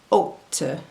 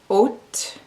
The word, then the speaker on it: hôte: Remember that the H in French is silent. So the first word is the French word for host, hôte, hôte, hôpital, hôpital, hôtel, hôtel, rôle, rôle, fantôme, fantôme.